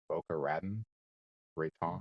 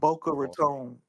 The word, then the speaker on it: Boca Raton: He's got the I know I'm gonna mispronounce it. Boca Raten Ron. Boca Raton.